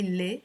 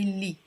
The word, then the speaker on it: يلي: When you abbreviate it, you don't say le, you say li.